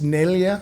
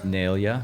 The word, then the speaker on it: Neglia: And it's Neglia. Neglia. Okay. Correct. The G is silent, and I'm going to go visit where my grandfather was born.